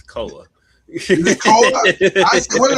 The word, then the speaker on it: Koa: It's Koa. Is it Koa? What did I say? Koi Koi, Pete? like he's a fish. Because it looks like koi. It looks more like koi than koa.